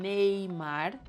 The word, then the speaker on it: Neymar: Neymar.